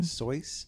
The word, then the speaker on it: Seuss: I know it's actually pronounced Sois.